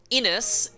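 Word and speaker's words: Innes: her roots but we also have Ennis back Ennis yes I know how to pronounce his name properly now thank the heroes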